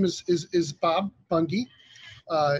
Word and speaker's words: Bunge: name is is Bob Bungie uh is pronounced a little strange like it has two E's on the end but uh you can